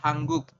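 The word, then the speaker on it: 한국: Kita membacanya adalah hangguk. Seperti itu. Yang ini ya silakan nanti Anda isi di bawah, teman-teman. Bisa ya. Jadi kalau ada nien bertemu dengan giok, maka nien berubah bunyi menjadi eng.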